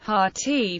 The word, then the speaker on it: Hathi: trust's Library preservation copies Hadi pronounced hati is the Hindi and